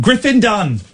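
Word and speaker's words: Griffin Dunne: And then Griffin Dunn. So it's 2 syllables and 1 syllable.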